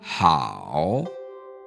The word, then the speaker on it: 好: This character means good, and it's pronounced how. Practice saying that after us. 好 How. Now notice, my voice starts relatively low, and then it goes to about where my voice starts to cut out before it rises again just slightly.